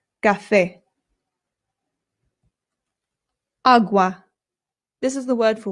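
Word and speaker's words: agua: Again, the a makes an a sound. There are some British people, including people in my own family, who say awa, and it is not correct. Please don't say it that way if you're trying to speak Spanish. It's awa. Awa.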